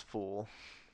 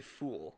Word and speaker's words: full: Are you saying fool or full? I think I was saying it wrong, but I knew what I meant was full. Full? I guess I just say it wrong. Like Yeah. glass half full? Yeah, that sounds weird. Full. I say full. You say fool.